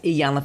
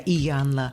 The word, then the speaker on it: Iyanla: Yeah, Iyanla. I know. I couldn't either. I had to always write it like E and then Iyanla.